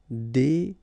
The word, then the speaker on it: désobéir: Here you've got to pronounce this I. Désobéir.